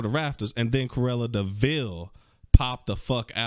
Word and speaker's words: de Vil: rafters and then corella deville popped the out and just it's that it's spelled devil but it's pronounced deville confused bruh she was